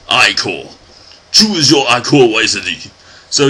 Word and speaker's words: ichor: It's pronounced ichor.